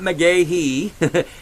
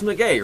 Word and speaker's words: McGahee: It's not McGahee, it's McGay, right?